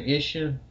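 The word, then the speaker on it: Isshin: Ishin.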